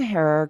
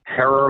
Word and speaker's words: Herer: your last name correctly hair like terror it seems everyone in